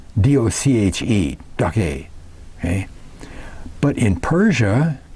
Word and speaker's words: doche: It's Dochar, Doche, D-O-C-H-E, Doche.